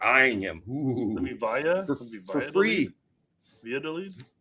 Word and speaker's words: Valladolid: as clubs like Real Valladolid. This one always gets Valladolid are eyeing him for free. They're eyeing him. Ooh. For free. Valladolid? Valladolid, yes. I don't think you sound out the L's there.